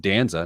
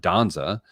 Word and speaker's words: Danza: We learned that Danza is pronounced Danza, not Donza.